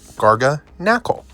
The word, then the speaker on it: Garganacl: Another Paldea Evolved, Mischievous, Pikachu, Mismagius, Murkrow, Pincurchin, and Garganacl, which is how you say it, Garganacl, like Knack, the video game.